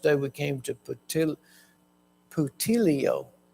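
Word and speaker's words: Puteoli: we came to ptil ptio I looked that up so I know how to say it ptio and so now they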